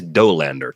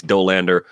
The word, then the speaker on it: Dolander: It is Doander, too. I I that name messes with my head. We have a place here called Cafe Hollander, which is spelled like Doander, but with an H.